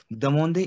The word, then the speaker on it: demander: Demander is to ask. Demander. Why demander? Achha, how to read this? My E sound is A, AN sound is on, and ER sound is A. So that is demander.